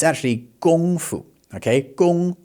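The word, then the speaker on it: 功夫: It's actually gongfu, okay? Gong not Kung. Uh the gong is pronounced in the first tone so that's that high level tone gong and then fu is a neutral tone, okay?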